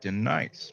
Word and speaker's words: Denise: Um, it's actually Denise, much like the substitute teacher KM Fuel Sketch.